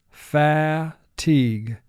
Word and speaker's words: fatigue: miles fatigue for spelling pronounce it fa teague syllables first syllable pha two sounds ah teague three sounds fatigue mark the word